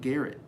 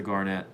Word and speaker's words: Garnet: i'm saying it right is it garnet hotel or is it garrett it's the garnet it's the garnet so